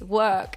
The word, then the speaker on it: work: It's work. You have to make this very strange sound. It's not pretty, but it needs to be pronounced like that.